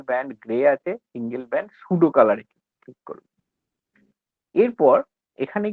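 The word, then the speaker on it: pseudocolour: করার পর render type single band grey আছে, এটাকে ক্লিক করবে, দিয়ে তার ঠিক নিচটায় আছে single band সুডো কালার, PSEUDOCOLAUR, সুডো কালার বলে, পিটা উচ্চারণ হয় না, সিঙ্গেল ব্যান্ড সুডো কালার, এটার উপরে ক্লিক করতে হবে।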